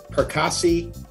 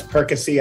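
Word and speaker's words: Perkasie: towing in recovery in percassi pennsylvania i'm sure that's perkasy and i sent it said it wrong but it's one of those two last but not least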